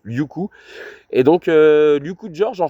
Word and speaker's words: Liuku: donc on s'excuse puisque son prénom se prononce Liuku.